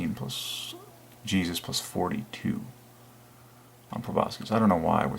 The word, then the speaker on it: proboscis: to Jesus just like probe up proboscis excuse me I wasn't even saying it right proboscis pull boss oh wait